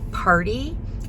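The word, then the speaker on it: Paaarty: And so I decided to pick up Party. It's actually spelled like Party, like P-A-A-A-R-T-Y.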